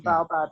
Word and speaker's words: baobab: it so I don't bow bow Bob so be like the bow of a tree the baobab is a tree and it's a tree